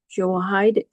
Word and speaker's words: Jehoiada: Joash did what was right in the sight of the Lord all the days in which Jehoiada, the priest, instructed him.